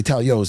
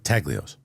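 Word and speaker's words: Taglio's: I say Talio's now. I say it right. You don't say the G. Taglios.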